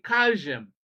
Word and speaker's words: calcium: In bam and sam, L is silent, but in calcium, L is pronounced.